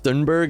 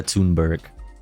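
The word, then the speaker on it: Thunberg: have Nets in full that's how uh dunberg is pronounced I have no idea how to pronounce her last name because Amy is usually really good about the way she pronounces people's names so I'm I'm inclined to believe Amy and and think that we have all been wrong by saying Greta tunberg which is what I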